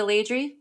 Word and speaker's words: Laidrey: Um, and that's when you pivoted to I pronounced it incorrectly before, but that's when you pivoted to Leyri.